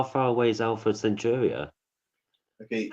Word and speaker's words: Alpha Centauri: Okay, don't say Alpha Centauri. No, I would never, because that's not how you say it. It's Alpha Centauri.